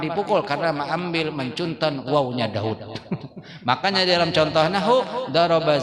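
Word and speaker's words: داود: Daud dibaca Daud, wawunya kada Daud tulisannya, tapi bacanya Daud.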